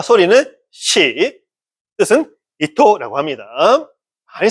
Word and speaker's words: 糸: 소리를 발음 마르냐?이 글자의 소리는 시 우리는 사잖아요. 근데 일본을 시라고 읽습니다. 시. 그리고 실이라는 우리 뜻도 있잖아요. 그렇죠? 음. 일본도 뜻이 있습니다. 이또 이또가 실이라는 뜻입니다.